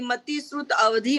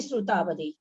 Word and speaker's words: श्रुतावधि: नहीं, मति श्रुतावधि। कभी भी सूत्र को पढ़ते समय कहीं पर भी खंडाकार आए तो पर भी नहीं उच्चारण करना है ना। मति श्रुतावधि वो हम जब संधि करके अलग अलग बोलेंगे तब बोला जाएगा, है ना। सूत्र तो अपने को श्रुतावधि पढ़ना है।